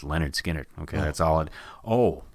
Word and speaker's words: Lynyrd Skynyrd: how about Lynyrd Skynyrd lean yard skinny yard yeah never we get in arguments how to properly pronounce that Lin you're the cousin of mine finally is a dummy it's just Leonard Skinner okay that's all it